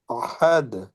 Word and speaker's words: أحد: হবে ওয়াল্লাহু والله والله আহাদে أحد أحد হাটা গলায় চাপ দিতে হবে আর এখানে থেমে গেলে দালে কি হবে কলকলা হবে জজম হয়ে কলকলা হবে